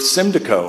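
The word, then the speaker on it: Symdeko: that the FDA approved Cindy Koh and that's the way you say it it sort of rhymes with kalida KO sort of then approved Simba Co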